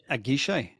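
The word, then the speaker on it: à Guichet: Privé tank, Matt, tell us how we pronounce this. A guichet.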